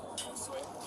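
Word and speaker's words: Josué: I was trying to see if you were obviously Josue. Is that how you say it? Yeah. Josue's passed on.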